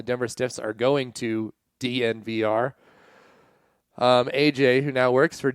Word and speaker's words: DNVR: You would think it would be called Denver and they'd just say it like a tech company, but it's not. It's just DNVR.